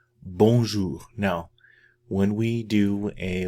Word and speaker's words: bonjour: Bonjour. Bonjour.